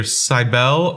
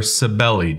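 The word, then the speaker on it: Cybele: specifically to the goddess either sibel or sabelli depending who who you want to talk to they pronounce it differently okay and Addis now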